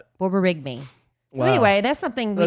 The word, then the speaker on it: borborygmi: Borborygmi.